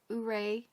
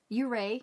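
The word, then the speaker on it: Ouray: the towns of telluride uray uray i think it's pronounced and the ghost town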